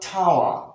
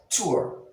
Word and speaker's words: tour: cure c-u-r-e cure 2-r not tawa as we mispronounce the word t-o-u-r tour tour so as you can